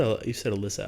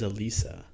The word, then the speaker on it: Elisa: You said Alyssa. I thought it was Elisa. Elisa Lam. From the one YouTube video I watched, they pronounce it as Alyssa. Okay. It could be Elisa. If it's okay with you, I'm going to call her Elisa.